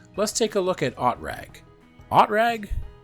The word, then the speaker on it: OTRAG: O T R A G. I don't know. It's German. Scott Manley, how do I pronounce this? OOTRAG. Orbital transportin AG or Orbital Transport and Rockets Incorporated. Oatra. Got it.